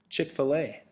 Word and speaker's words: Chick-fil-A: So, it's Chick-fil-A. Or if you like to call it Chickfila, you can do that. I've heard people pronounce it that way, too. But it's Chick-fil-A.